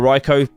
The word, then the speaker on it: Raikou: Up next is this card right here, which is this amazing rare Raikou, or Raikou, some people pronounce it.